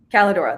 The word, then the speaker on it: Kaledora: I don't want to mispronounce it. Is it Calidora? Calidora.